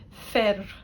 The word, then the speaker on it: fir: One of the best words that I can use for example with the I is fir. Men. Fir. It's like this r. It's not the same as a arriba.